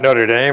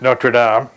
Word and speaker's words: Notre Dame: notre dame australia where by the way we pronounce it correctly uh it's not notre dame it's notre dame uh how can somebody ask for anything more